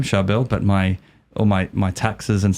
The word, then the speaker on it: Charbel: And it's a common thing, a lot of Charbels, because it's an Arabic or Syriac name specifically, and you say it like this, Charbel, very hard, it's a tongue twister.